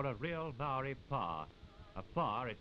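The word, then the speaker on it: pā: short we saw a real maori power a far is spelled pa is a sort of combined village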